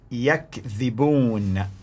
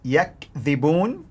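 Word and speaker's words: يكذبون: The pronunciation of the word is yakdhibun, yakdhibun, which means they lie. They lie. They tell lies, basically. Now listen to the pronunciation in Warsh. Yukadhibun, yukadhibun. One was in Hafs, yakdhibun. In Warsh, yukadhibun, yukadhibun. They basically accuse others of lying.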